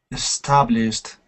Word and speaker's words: established: We just pronounce it like a tiny little d sound.